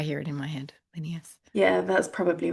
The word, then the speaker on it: Linnaeus: Yeah, I read it as Linnaeus, but that's how I hear it in my head. Linnaeus.